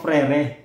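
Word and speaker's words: frères: Parang gmo parang ganon yung frere may s sa dulo y freres kung Babasahin mo siya kada letra pero silent s siya frere ganon siya in in in in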